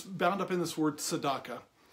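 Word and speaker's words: צדקה: But the first Hebrew word is tzedakah, and what I want to get to is the root of why giving is a part of our lives.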